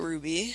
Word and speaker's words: RWBY: the show yeah but you're legally required to pronounce it Ruby Ruby yeah everyone says everyone just pronounces it Ruby